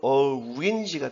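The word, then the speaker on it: orange: 그래서 이거를 사전 발음 그대로 읽을 것 같으면 오렌지가 됩니다.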